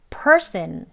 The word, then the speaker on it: person: 그래서 요 앞에 음절을 강하게 발음하라는 뜻이에요. person 이렇게 해요.